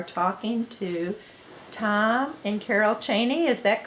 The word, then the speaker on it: Chaney: to tom and carol cheney is that correct correct and how do you spell your last name uh we spell it c-h-a-n-e-y okay as opposed to the vice president which is c-h-e anyway oh and jokingly i